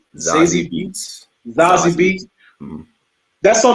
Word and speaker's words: Zazie Beetz: Zazie Beetz.